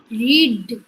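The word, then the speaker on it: read: পড়ালেখা করেছি I have রিড আচ্ছা আই হরিড তো হবে না রিডের পাস্ট পার্টিসিপল ফরম বানান এক হলেও উচ্চারণটা রেড হয়ে যায় তাহলে বল আই হড্যা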